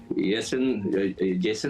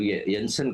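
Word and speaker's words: Jansen: इनका जो जेसन मैं प्रोनाउंस करता हूँ, मगर वो वैसा वो गलत प्रोनाउंसिएशन है, वो इसको यंसन कहते हैं, वो जो लेफ्ट आर्मर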